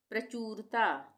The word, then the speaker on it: प्रचुरता: हम पढ़ेंगे मौर्य कालीन प्रचुरता प्रचूरता प्रचुरता प्रचूरता प्रचुरता यहां पे पदेन की मात्रा का प्रयोग हो रहा है र का उच्चारण पूरा